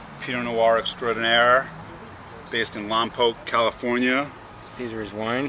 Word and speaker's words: Lompoc: Brian Loring, Loring Wine Company, Pinot Noir extraordinaire, based in Lompoc, California. These are his wines. Thank you for pronouncing it correctly, by the way.